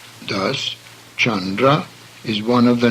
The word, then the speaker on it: Chandra: However, the soft C sound, as in church, is the same. Thus, Chandra is one of the names of the moon.